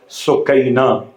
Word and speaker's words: سکینہ: تھا سکینہ۔ مقاتل کے الفاظ کے لحاظ سے تلفظ پڑھا سکینہ۔ جب لفظ سکینہ استعمال کیا جائے تو لوگ